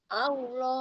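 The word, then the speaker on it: الله: Karena huruf lam, huruf lam itu kan huruf yang bainiah ya, Bu. Artinya dia sebagian suaranya masih mengalir. Heeh. Sebagian ee suaranya mengalir tapi arahnya dia ini loh, dia ke samping. Nah, itu yang menjadikan dia tebal adalah mengangkat pangkal lidah.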